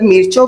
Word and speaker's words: मिर्चें: खैर आपने मेरी प्रोनाउंसिएशन जो है ना मिर्चों वाली वो ठीक कर दी। अब मैं इनको मिर्चें ही बोलूंगी। अब मैं इनको मिर्चे ही बोला करूंगी।